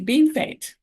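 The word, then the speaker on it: Bienfait: Next, we're going to Bean Fete. Don't you just love my pronunciation? But that's the way people down there pronounce the town's name.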